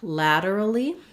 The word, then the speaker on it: lateral: lateral and laterally so for lateral we have a flap here we have first syllable stress and the a um and we have so thinking about it like la der da ladder i'm thinking maybe if you think of the word ladder it'll help lateral lateral and